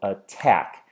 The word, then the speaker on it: attack: I clap my hands I go attack I can definitely hear that the tack is where the stress falls so if we look